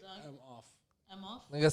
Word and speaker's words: Emhoff: Emhoff. Doug Emhoff. Yeah, just the H is silent. So just say I'm off.